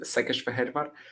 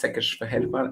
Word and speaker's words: Székesfehérvár: In Hungarian, it's basically like sh and s are upside down. So when you have an sz, you pronounce it like s, and when you have an s, you pronounce it like sh, like shak or whatever.